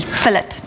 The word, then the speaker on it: fillet: So you pronounce the T, fillet.